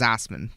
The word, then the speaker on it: Assmann: Literally, it's Hans Assman, but Assmann is how you spell his last name.